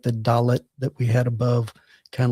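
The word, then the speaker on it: ד: Um, but when it has the dagesh lene, it's the D is in day. But if it does not, then it's pronounced with like the TH of the.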